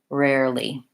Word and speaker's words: rarely: the word rarely here I would break it down by starting with my air if I need to break it down even further just start with my and then add my a vowel air air then add my are rare rare and finally a nice little lightly rarely long and short rarely you can find some